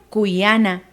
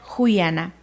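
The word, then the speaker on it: kuyana: Amar en la zona sierra centro del país se pronuncia cuyana. En la zona norte del país se pronuncia juyana. Nosotros aplicaremos el cuyana.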